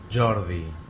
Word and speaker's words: Jordi: Então, primeiro você tem que aprender o último som. I. De boa. Agora, esse D. Língua dental. Língua no meio do dente. D.